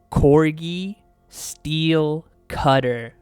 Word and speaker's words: Cori-Steel Cutter: And I see everyone mispronouncing the name of this card. Say it with me. Cori-Steel Cutter.